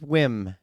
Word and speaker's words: Wim: whim say his name his name is whim w m which here's the thing